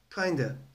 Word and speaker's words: kinda: üzerinde çalışma yapacağımız kelimenin okunuşu kda şeklindedir sondaki a harfi ı gibi okunacak kinda Peki çıkış noktası hangi